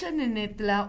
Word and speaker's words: Xanenetla: denominaban al pueblo al asentamiento lo que es xanenetla Hubo un tiempo que los españoles la escribían